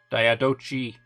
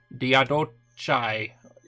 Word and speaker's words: Diadochi: Or Diadochi, Diadochi, take your pronunciation, I don't care.